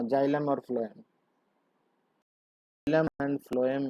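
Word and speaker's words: phloem: तो यार समझा करो, बोलते तो ये हो, एफ ही बोलते हो ना, प्रोनाउंसिएशन तो एफ से ही होता है ना। इसलिए फ्लोएम और फूड ऐसे याद रखना।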